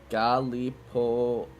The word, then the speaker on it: Gallipoli: Gallipoli is how you say it.